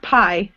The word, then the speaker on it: pi: The next one is pronounced pi.